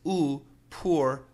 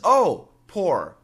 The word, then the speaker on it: poor: or poor person, um, has actually two common pronunciations in America. One of them is ooh poor poor poor poor and the other is oh poor poor poor people people